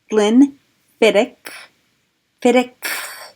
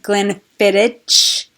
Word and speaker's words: Glenfiddich: and today so today I am talking about Glenn Vinick Pittock I understand that is the pronunciation of that I CH it's a sound